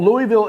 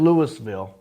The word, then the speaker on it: Louisville: Well, Louisville is now accepted. It's never been Lewisville. If you say Lewisville, they'll kick you out, right?